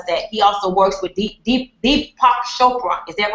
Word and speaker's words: Deepak Chopra: he also works with Deepak Chopra. Is that right? Am I saying it right? He said it right. Okay. I love him. I can't pronounce his name. Deepak Chopra, right? That's right.